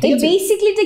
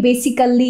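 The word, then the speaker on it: basically: ঠিক আছে বেসিকলি এরকম বেসিকলিটা কিন্তু অনেক কমন একটা ভুল সবাই বলে থাকে বেসিক্যালি বেসিক্যালি কারণ যেহেতু বানানের মধ্যে আছে বি এস আই সি এই ডাবল এল ওয়াই কিন্তু এটার উচ্চারণটা আসলে হবে বেসিকলি কিরকম আমরা বলতে পারি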